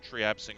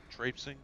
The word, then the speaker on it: traipsing: I'm currently just triapsing around, whatchamacallit. I'm triapsing around Old Yarnum. Traipsing? No, Lady Red is correcting me on pronunciation. That is the correct pronunciation, yes.